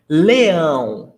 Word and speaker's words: leão: Leão, it ends in ão. And I want you to pay attention to the pronunciation. Ão, ão, it's nasal. Ão, leão.